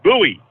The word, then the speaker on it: Bowie: down here in Texas you called him Boi is that b w IE is that is that how they spell that I'm guessing it's Bowie right well D people in Maryland these yeah these people in Maryland call it buoy buoy I'm like you